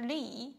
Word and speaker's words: 李: The pronunciation is way. Way, 你好. Way. Okay, way. Yeah, way.喂，你好。喂，你好。Okay, 李老师在家吗？李老师 here means teacher Li, 李 yeah, 李老师 Li, which is a very common surname in China.